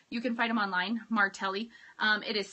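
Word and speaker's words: Martelli: hard to find you can find them online martelly um it is spelled m-a-r-t-e-l-l-i is martelly um it's amazing so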